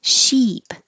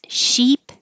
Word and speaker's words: sheep: but I'll pronounce these sheep and the vowel is e and ship the vowel is it so it's the difference between eat and it this is sheep and ship sheep ship